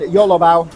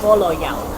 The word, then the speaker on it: bolo bao: It's not YOLO bao, it's Bolo Yao. Oh, all right, so I've just been saying it wrong. It is not YOLO Bao. It's not you only live once Bao. It is Bolo Yao.